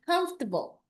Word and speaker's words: comfortable: It's comfortable or comfortable. Hindi comfortable. Okay? Kasi ganun yung mga Pilipino eh. Comfortable. So, it's supposed to be comfortable. 2 syllables. I prefer it 2 syllables. Comfortable. But, posible din naman yung comfortable. Pero hindi yung comfortable, like Filipino way.